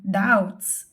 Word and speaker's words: doubts: word doubts because so we cannot hear B when we say doubts okay next we have